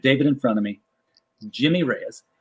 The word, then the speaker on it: Jimmy Reyes: in front of me jimmy reyes not jaime reyes jimmy reyes and this joe will's